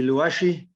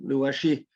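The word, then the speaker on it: Luaxe: So this is going to be Luashi. Some people pronounce it Luash, L-U-A-X-E, some Luashi.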